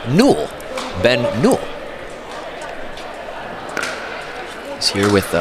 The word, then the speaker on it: Newell: And if you're playing pickleball trivia at home, how you pronounce Ben's last name is Newell.